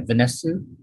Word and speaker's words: Vanesu: i i thought uh tell me if i'm pronouncing your name right vanessa yeah i your performance was extraordinary and and